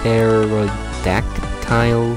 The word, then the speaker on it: pterodactyl: Come and see the baby I'm thinking the P is silent. Pterodactyl.